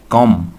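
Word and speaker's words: comb: बनेगी does she कॉम, B silent है इसमें, डज शी कॉम हा हेयर, क्या वो अपने बालों में कंघी फेरती हैं। कुछ लफ्ज़ ऐसे होते हैं कि जो कि नॉन भी होते हैं, वर्ब भी होते हैं। वर्ब यानी कि एक्शन, कंघी करना को हम क्या कहते हैं, कॉम, बी इसमें साइलेंट, और कंघी को भी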